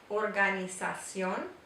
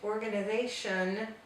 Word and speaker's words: organización: And notice that at the end, instead of the English organization, we have organización. The O makes the O sound. So it's very different from the English pronunciation.